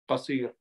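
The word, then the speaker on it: قصير: Qasir with qaf, sad, means less. Pronunciation is different. If you pronounce it in the proper way, you will say al-ilmu kathir wal-umru qasir.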